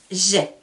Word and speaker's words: j'ai: Je peux dire j'ai 5 enfants. Vous vous souvenez, là je prononce bien j'ai, pas je.